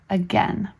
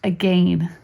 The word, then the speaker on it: again: the only proper pronunciation of the word is again it should never be pronounced again lesson 56 the seasons spring summer autumn and